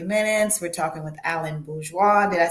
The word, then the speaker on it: Bourgeois: We're talking with Alan Bourgeois.